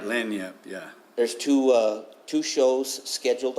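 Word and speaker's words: lagniappe: but the first, there's a reenactment, Gunfighters, that Lanyap, I believe it is. I said it wrong. Maybe you got it right. Yeah, you got it right. Lanyap, yeah.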